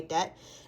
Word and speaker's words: debt: confession update my depth i always pronounce the b so hard i don't know why but my debt is not that bad